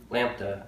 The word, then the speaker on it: lambda: Okay, so this is the Greek letter L, Greek letter for L, lambda, I believe it's pronounced as.